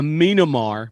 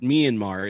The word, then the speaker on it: Myanmar: a a sorry a minamar because the person who asked the question doesn't under doesn't know that myanmar is how you say the cut the country's name uh why couldn't a